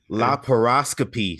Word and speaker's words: laparoscopy: before the show, and I forgot how to pronounce it. Lapara. All right, let's say this as a family, guys. Laparoscopy surgery.